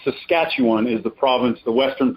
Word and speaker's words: Saskatchewan: to be on returning to Eden and it's pronounced Saskatchewan is the province the western province in Canada